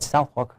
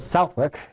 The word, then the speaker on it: Southwark: Senior international correspondent Afia Hagen is at Southwalk pronounce is at Southwork Crown Court bringing you the details, the latest from the trial.